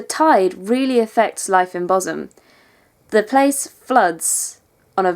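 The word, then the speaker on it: Bosham: But the most interesting place is a little village on the south coast of West Sussex, which is called Boshum. It's spelled Boshum, but Boshum is greater and kind of funny.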